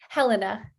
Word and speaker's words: Helena: i didn't ask if you prefer your name pronounced helena or helena helena glad i double checked cool let's start that